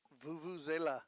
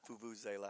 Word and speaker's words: vuvuzela: Vuvuzela. Vuvuzela.